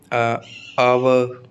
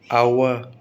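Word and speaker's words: hour: एच कब silent रहता है, जैसे आवर, एयर, ओनिस्ट, where, when, what, what, which, white, wheel, गाउस्ट। ठीक है, तो एच कब कब साइलेंट रहता है, ये शब्दों के उदाहरण दे दिए हैं मैंने, बहुत इंपॉर्टेंट।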